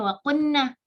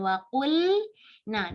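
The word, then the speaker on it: وَقُلْنَا: Jangan sampai kita bacanya waqunna, nggak harusnya waqulna, diperjelaskan harf lam.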